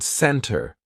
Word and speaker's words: center: is not pronounced or like the word center right it sounds like there is no T at all Angela can you please